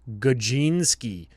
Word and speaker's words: Gadzinski: Obviously, the way that it's spelled. Brian Gadzinski. And Okay, in brackets, it's Gajinski.